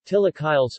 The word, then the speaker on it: chilaquiles: chilaquiles Spanish pronunciation Atilla Kyle's from the Nahuatl word